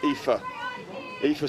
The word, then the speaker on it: Aoife: That name there, that's Aoife, right? That's Irish. My Irish producer told me exactly how to pronounce that, and it's written down here as well. Just like that, Aoife Saunders, and Millwall ladies.